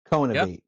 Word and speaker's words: co-innovate: Co-innovate, like innovate, Cohenvene. Yep. co-innovate.